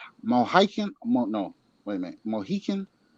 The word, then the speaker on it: Mohican: I think I'm pronouncing this right. The Mohican, no, Wait a minute. Mohican?